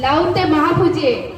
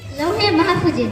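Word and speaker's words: লাওহে মাহফুজ: বলতে হবে লাউতে মাহফুজে লাউতে মাহফুজে না উচ্চারণ লাউহে মাহফুজে উত্তর সঠিক হয়েছে এবং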